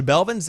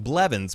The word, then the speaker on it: Blevins: the New Year Tyler ninja melvins or excuse me I always say his name wrong Blevins my bad is the